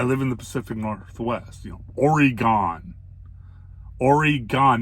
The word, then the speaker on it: Oregon: I live in the Pacific Northwest, Oregon. Oregon, not Oregon. Oregon. Add an E to the gon, and that's how you pronounce it, Oregon.